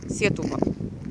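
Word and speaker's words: Setúbal: И там, скорее всего, откроется прекрасный вид на город Сетубал. Сетубал. Вот, с правильным ударением.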